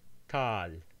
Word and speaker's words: ʈal: It indicates that the vowel is pronounced long. So this word is tal with an alveolar T, and this word is tal with a retroflex.